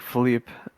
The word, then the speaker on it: Philip: of his witty partner philip which like they pronounce like philippe i guess that the